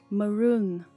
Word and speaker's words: Maroon 5: M não é ma. M. A. Rune. Pronuncie o N. Maroon.